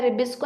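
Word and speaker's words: RuBisCO: ठीक है, तो RUBP जो हम रिबिस्को एंजाइम कहते हैं, इसका जो प्रोनाउंसिएशन है वो है रिबिस्को enzyme, which is very important.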